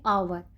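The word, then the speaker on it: hour: sound वाले noun और अवर ये हा से जरूर स्टार्ट होता है लेकिन साउंड देता है अवर की यानी की हा इसमें साइलेंट राहत है इसलिए एन लगा है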